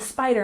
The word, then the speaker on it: spider: For example, he freaked out when he saw the spider on his bed. And let's make sure that we emphasize the first syllable in spider.